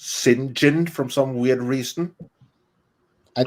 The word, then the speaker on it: St John: this kind of like when you have St John and it's pronounced sinin from some weird reason